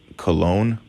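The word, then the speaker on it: Colon: my Victim ID number her name is Mrs cologne cologne is spelled c o l o n Charlie Oscar Lima Oscar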